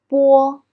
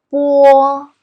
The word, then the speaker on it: 波: So let's start with the first one, 波. It sounds like phonetic b in English, but it's softer. Now let's practice with some finals. 八, 波, 逼, boo.